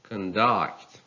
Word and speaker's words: conduct: They are nouns if they take a stress on the first syllable, but they are verbs if a stress falls on the second syllable. Well, let's read them. conduct, conduct, attribute, attribute, combat,